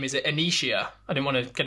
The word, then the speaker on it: Annishia: your name is it anishia I don't want to get it wrong when we're talking yeah it's a silent I at the end so it's just anishia bit like you know